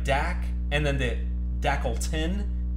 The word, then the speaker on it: Dak: of 15 deckle 10 Prescott that's how you pronounce his first name everything else is so it's like dak and then the deckle tin is all silent